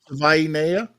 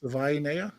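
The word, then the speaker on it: Savaiinaea: Like Savai, Hawaii. Savainea. Is that how you say it? Savainea, like Hawaii, Savai.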